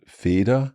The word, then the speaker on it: Feder: And then Feder. We had Feder, genau, with just a D. So F-E-D-E-R. F-E-D-E-R. Okay. Feder, Fell. And that is where we're hearing a difference in the pronunciation.